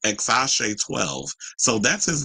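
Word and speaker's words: X Æ A-Xii: It's actually pronounced Exashe 12.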